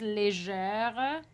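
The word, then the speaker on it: légère: before it for example if the word is legere and the stress is on je if you stress a little bit of lee it helps a bit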